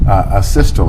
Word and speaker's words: asystole: about and have you explained to the jury a systole i think is called um am i pronouncing that right by the way asystole yeah